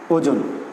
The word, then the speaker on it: ওজন: তাহলে আমরা পড়েছি মধ্য অয়ের আগে ও থাকলেও সেই অয়ের উচ্চারণ হবে কিসের মতো? ও এর মতো। তাহলে এর উচ্চারণ হচ্ছে ওজন।